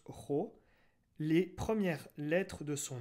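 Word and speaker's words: rho: c'est une forme de paix et ça se prononce ro les premières lettres de son nom christophe bien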